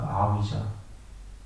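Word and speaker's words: avijjā: 저 A가 R라고 읽은 거고 V자라고 V가 저 빨리 발음으로 위 발음이 납니다. V가 그 아위자.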